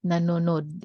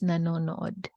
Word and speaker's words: nanonood: So the double O there in English, you said it's nude, but it's no-od. It's not nanonod. It's nanonood. All right, guys.